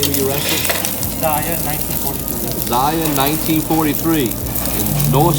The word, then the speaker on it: Zaya: What's the proper pronunciation of the name of your restaurant? Zaya, 1943.